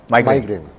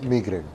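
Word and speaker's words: migraine: दोनों कहा जाता है अमेरिकन और बितान लोग थोड़ा मुख्तलिफ तरीके से प्रोनाउंस करते हैं तो अमेरिकन क्या बोलते हैं माइग्रेन और ब्रिटिशर्स मैग्रेन मैग्रेन और हम लोग क्या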